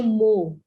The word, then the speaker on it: mho: Ohm inverse को लिख के चलते हो मो। ठीक है, देखो ओम के इस स्पेलिंग को मैंने बिल्कुल अपोजिट करके लिखा है, OHM ओम होता है ना, ये MHO हो गया मो, या इसको लिखते हैं सीमंस, बोथ आर करेक्ट.